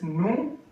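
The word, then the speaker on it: nous: So o u we are using here n o u s we say n s is silent n o u s new in English we can say us.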